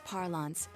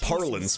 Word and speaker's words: parlance: In Namatame's parlance, failing would have been the first. It's pronounced parlance, but okay.